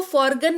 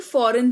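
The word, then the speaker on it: foreign: तो सिर्फ एन का उच्चारण होता है और जी जो है वो साइलेंट रहता है। तो इसको फॉर्गन नहीं फॉरेन पढ़ेंगे।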